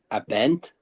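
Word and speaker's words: Abend: Bogey, but you still got to pronounce the a in guten. Abent.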